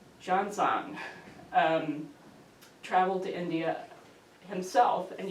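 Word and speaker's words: Xuanzang: to try hard, I looked up how to pronounce his name, Zhangzang, traveled to India himself, and you can see from this lower map, his route was entirely by land.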